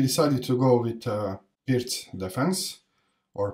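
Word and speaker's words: Pirc: to go with uh Pierce defense or perk I mean the name of the guy is built but if you are English-speaking then you pronounce this perk so he played pitch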